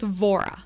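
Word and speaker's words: Vohra: started uh let's see okay let's start with Vora that's spelled v o h r a you'll find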